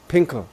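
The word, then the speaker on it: Fin.K.L: Is that how you pronounce the name? Is it Pinkle or Finkel? Pinkel.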